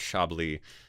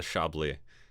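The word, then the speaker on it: Chablis: a fun one um isn't that pronounced shably yeah this is not the Chaplet it's the chably my wife is learning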